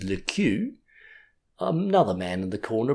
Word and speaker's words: Le Queux: I think you mean Le Crooks.' They appealed to me, and I said authoritatively that the proper pronunciation was Le Queux. Another man in the corner broke in with Le Kicks, and they were still